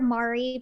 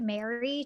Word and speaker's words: Mari: I call her Mari, but I think they pronounce it Mary technically.